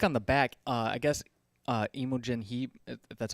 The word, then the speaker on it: Imogen Heap: So if you look on the back, I guess Imogen Heap, if that's how you say her name, she actually read the book and did a little review about it.